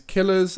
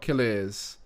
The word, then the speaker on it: Killers: He is Killers, not Kiliz.